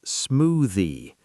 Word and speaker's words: smoothie: The word smoothie is smoothie. Stress the first syllable.